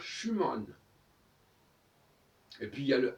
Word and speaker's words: Schumann: manche ou mal alors schumann c'est pareil on dit schuman alors qu'en france et on devrait dire schümann et puis il ya